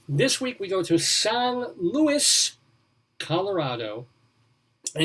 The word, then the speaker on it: San Luis: here san luis colorado san luis l-u-i-s now if you were hispanic or if you're mexican usa san luis probably pronounce it like that but since we're american and especially flat in the midwest colorado they just say san luis like saint louis what yeah san luis